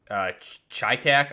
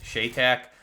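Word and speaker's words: CheyTac: This is firing the 408 Chi-Tac, I believe is how you pronounce it, Shay-Tac round.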